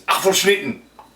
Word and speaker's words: Apfelschnitten: So, it's from the German side of our family, because the actual name is Apfelschnitten. You have to say it like that because it's German.